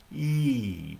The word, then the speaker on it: yi: brain and it is e pronounced like e e long e's it's spelled y i in pinyin for mandarin chinese but it's pronounced e so the y is silent long e sound okay